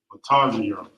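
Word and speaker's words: מצרים: And the Hebrew would be pronounced Matazayim. Matazayim.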